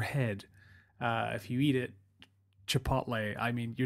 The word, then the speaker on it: Chipotle: a new kid on the block which is pronounced cheap hotels around my neck of the woods but you probably know it as chipotle to poach is chipotle which is a sort